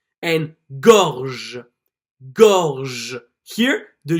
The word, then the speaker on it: gorge: So here you will see that the E is almost silent and that only the letter before the E will be pronounced.